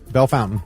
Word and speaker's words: Bellefontaine: It's pronounced Bellefontaine. Oh, come on. Yeah, it is. Yeah, Bell Fountain.